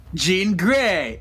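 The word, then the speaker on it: Jean Grey: On today's expose, we are doing Jean Gray. It rhymes.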